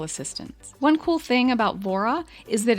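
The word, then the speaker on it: Vohra: started uh let's see okay let's start with Vora that's spelled v o h r a you'll find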